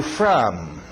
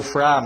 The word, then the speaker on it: from: Where are you from? Where are you from? Esse O do from aberto. From.